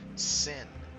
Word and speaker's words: sign: And notice that the G in sign is silent, which is sin, the sin of the